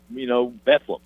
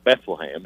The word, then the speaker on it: Bethlehem: But yeah, they want to be called, Bethlehem, not Bethlehem, even though it's spelled Bethlehem.